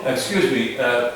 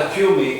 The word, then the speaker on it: excuse me: It's not accuse me. No. That is one of the biggest problems that I've experienced here over the years is the mispronunciation of excuse me. Excuse me. You get into the habit of accuse me. Accuse me. Excuse me. X.